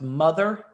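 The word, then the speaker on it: MU-TH-UR 182: jarvis ava max and muthr 182 which is pronounced mother throughout the movie um and then the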